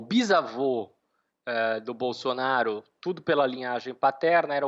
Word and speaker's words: Bolsonaro: Isso se deve, sobretudo, porque na língua vêneta eles não pronunciam esse Bolsonaro como seria no italiano standard, o italiano padrão. Eles tendem a fazer esse S mais suave mesmo do Bolsonaro, né?